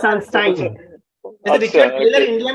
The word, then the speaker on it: Sunstein: तो सनस्टाइन हमें, जब हमने सनस्टीन, कैसे प्रोनाउंसिएट करते हैं इसको अनुराग जी? पता नहीं, ये तो मैं It's Sunstein.